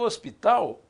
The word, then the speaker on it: hospital: hospital a palavra o hospital não é ela a tela tem h mas ninguém pronuncia e se agarra né